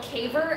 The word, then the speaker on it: Kayver: So the phone can't see me, but my channel is called Caver Outdoors, but it's spelled Kayver.